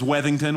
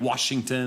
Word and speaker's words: Weington: And uh No, my last name is Weington, which seems easy. Weddingington. I get Washington and Wellington and. That's a weird one.